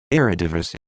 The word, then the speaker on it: Eredivisie: Just to help Luis out, here's the official pronunciation, Luis. Eredivisie.